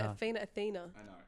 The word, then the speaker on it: Athena: Athena. I know, it's a feat. Athena and TH, Adrian. like a TH sound. Like an F F- sound.